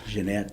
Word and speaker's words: Jeanette: Jeanette. She's a French-Canadian, and it's spelled gin like you drink.